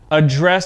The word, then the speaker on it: address: tomorrow afternoon so remember two syllable nouns the stress is at the beginning of the word okay address address all right so i'm gonna pronounce both words so you can hear the difference in pronunciation address address address address okay one more